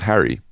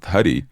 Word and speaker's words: Hari: and huie he told me his name was Harry and I was like but it's h a r i and then I'm pretty sure that's the name of God and it's pronounced huie yeah and he's like no I'm Harry I'm